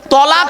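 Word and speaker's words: طلاق: চিন্তার কোন কারণ নেই অনেকে ভয় উচ্চারণ করে না তালা কি বলে কি বলে বাবা তালাক শব্দটা তালাক নয়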